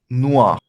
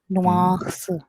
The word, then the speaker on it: noir: So we are not pronouncing R here much, right?